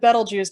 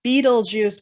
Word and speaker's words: Betelgeuse: constellation orion this one right here is called betelgeuse and this one right here is called rigel now i said betelgeuse now i know sometimes called people pronounce it as beetlejuice but it's better juice but hidden within the